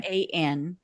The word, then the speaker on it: Raan: And Yeah, and it's pronounced Ran, but Ran. Raan, right?